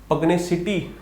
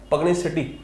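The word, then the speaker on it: pugnacity: पग्नेसिटी, सटी है, पग्नेसिटी, ठीक है। तो सिटी नहीं सटी है, याद रखना, पग्नेसिटी, ठीक है।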